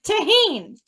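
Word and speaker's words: Tajín: Or I called it tangent until I got told it's not how you pronounce it. Oh, so Tajin. Oh, tangent. No wonder I can't find it. Tahine is how you call it.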